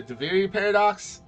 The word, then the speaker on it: Duviri Paradox: Here, I'm so afraid I'm going to mispronounce this, but the Duviri Paradox.